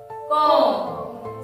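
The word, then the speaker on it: comb: बघा be after M म्हणजे एम च्या नंतर इथे बी आलेला असतो तो बोलत नसतो तो असा गप्प राहतो कसा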